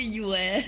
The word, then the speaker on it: Pyue: Is it Just Pyue? call me Yue. Yue. You can ignore the P.